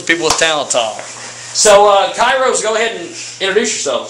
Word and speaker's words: Kiros: I know I'm going to butcher their name. Kiros.